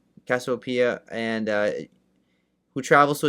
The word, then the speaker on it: Cassiopeia: Uh the Cassiopeia. Cassiopeia and uh who travels to a distant planet after Earth becomes nearly uninhabitable.